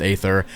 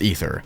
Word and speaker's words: ether: It is not pronounced aether, it is pronounced ether. I'm sorry, but the A shouldn't be there.